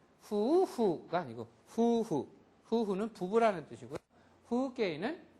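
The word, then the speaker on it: 風景: 후게이는 풍경인데 이 우음을 특별하게 모음을 후게이 이렇게 발음을 안 한다는 소리예요. 여기서는 우도 장음이고 이도 장음입니다.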